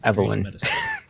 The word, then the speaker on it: Eveline: Even after what happened to Eveline, you just it's pronounced Evelyn. Okay. Eveline!